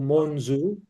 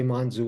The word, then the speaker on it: Monzú: The O is O. So, Monzu. Uh, but you know, people say Monzoo all the time. It's it's not a it's not a big deal.